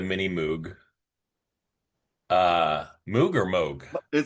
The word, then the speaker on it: Moog: Uh Moog or Moog. It's Moog. But mini very often mispronounced, but it's actually more.